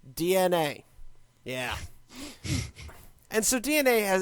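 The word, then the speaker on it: DeNA: n capital a d I've been told it's pronounced DNA yeah and so DNA has actually had their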